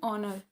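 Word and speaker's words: honor: तो हमारे question number 16 का आंसर होगा एन ऑनर क्योंकि यहां पे अ साउंड कर रहा है ना?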